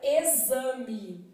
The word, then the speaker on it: exame: marido som de s eu posso ter um x com som de z é o que vai acontecer por exemplo na palavra exame x com som de